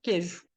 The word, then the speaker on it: queijo: nem imaginam Olha só Cadê esse queijo aqui cadê esse i na pronúncia aqui quero queijo ele trabalhou Cadê esse